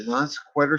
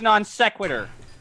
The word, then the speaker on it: non sequitur: can't Hawaiian from the non-square show shameless plug here because actually the like the non sequitur show Kyle Curtis is a good guy it's pronounced non sequitur all right forgive me